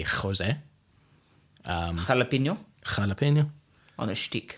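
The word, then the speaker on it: José: So often in Spanish, the J is is either what we would think of in Afrikaans as a G, Yeah. Or in English, it's often easier for people to just pronounce it as an H. So if you've heard people say Jose, maybe it's more accurately Jose.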